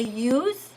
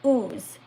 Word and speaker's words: use: Before you said ooze. Ooze is something different like when a wound is wound is oozing blood. Okay. So, it's important that you pronounce it well.